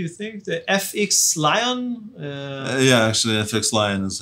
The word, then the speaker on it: FXLION: How do they pronounce their name? FXLION, do you think? The FXLION? Actually, FXLION is how they say it.